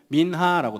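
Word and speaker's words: מנחה: 마찬가지로이 히브리어 원어로 보면이 소재는 뭘로 되어 있냐면은 바로 이미지 보면은 민하라고 되어 있습니다. 민하 민하 이쁘죠? 소재 발음이 민하입니다.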